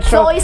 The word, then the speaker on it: sois: Pero sois, o sea, sois se tiene que leer con míreme la lengua, sois, sois. O sea, hay que pronunciarlo.